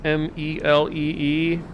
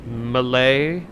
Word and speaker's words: melee: accidents outside the u.s how do i pronounce m-e-l-e-e i just say melee i've heard people say neely i've heard people say malay it isn't malay isn't that like a nationality